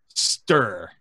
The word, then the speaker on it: Ster: Open Google, Lee Young Villa Genji guide, and it's pronounced Ster with a U.